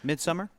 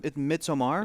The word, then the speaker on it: Midsommar: Midsummer? Midsommar, but Midsummer, It's sure. pronounced Midsommar, Yeah, really? because it's Swedish.